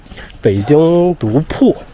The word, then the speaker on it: 堡: Chinese character is "堡" (bao), meaning "fortress". But locally, it's probably pronounced more like "bu3". In Beijing, it's pronounced "pu4".